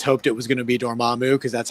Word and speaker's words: Dormammu: most of us hoped it was gonna be dormammu because that's how we read it when we